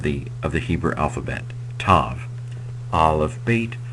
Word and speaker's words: Tav: me Ken so Tav or in older older Hebrew grammars they might have said to t a w um but going with modern Hebrew pronunciation I'm going to say Tav it is transliterated with